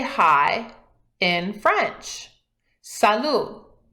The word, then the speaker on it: salut: say hi in French salut notice that in French when something ends with a T we don't pronounce it that's why in the